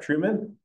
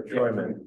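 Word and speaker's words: Treumann: how do you pron is this pronounced Truman or Troyman Truman okay uh of Truman's u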